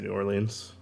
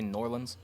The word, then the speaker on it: New Orleans: Yeah, I say New Orleans. Occasionally I'll say Norlands. I'm just like, Nope. that feels right to me.